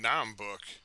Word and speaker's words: Naheulbeuk: Naheulbeuk. Dungeons of Naheulbeuk.